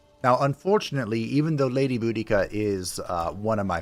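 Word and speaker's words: Boudica: both let's go also I don't recognize the pronunciation bodia it's budika you know it I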